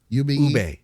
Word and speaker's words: ube: Ube? Ube. Yeah. Ube. Is that how you say it?